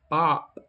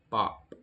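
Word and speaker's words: 밥: is rice or food, which is bop in Korean, it's still just one consonant just bop. But you listen closely and you can hear three sounds. b a p bop So, in that case you look at what's the vowel in that sound. It's a. So, you go to your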